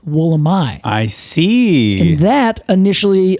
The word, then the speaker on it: Wollemi: will let me uh however in uh the place where this is from they would pronounce it the woolamai Wilderness so the trees named after the Wilderness which they pronounce wool am I I see and that